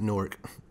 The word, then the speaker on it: Newark: It's not Newark, it's Newark.